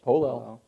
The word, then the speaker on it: polel: It is, I can't read my writing, but it says polel. Is that how it's pronounced? Yep, polel.